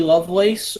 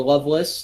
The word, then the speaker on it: Lovelace: like to see uh heidi lovelace or loveless depending on how you want to pronounce it in aew i think